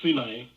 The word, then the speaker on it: Sinai: So the Sin, the Sumerian moon god, in Sinai, Americans say Sinai, but it's not, this is Sinai, is a reference to this son of Enlil from the Sumerian mythology.